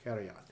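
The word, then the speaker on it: Karajan: Kerion. That's how it's pronounced. Kerion.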